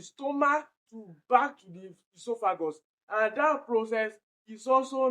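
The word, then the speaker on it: oesophagus: The process of food movement from esophagus is not esophagus. I have cautioned you guys earlier. It's not esophagus. It's esophagus. This O is silent.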